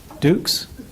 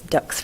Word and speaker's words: Dux: Dukes? Pretty close. All right, I'm sorry about that. No, you're fine. All right. It's Dux, rhymes with books, which is actually my topic tonight.